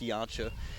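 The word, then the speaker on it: Janca: George Yancha? Yes, and that's spelled J-A-N-C-A, but it's pronounced Yancha.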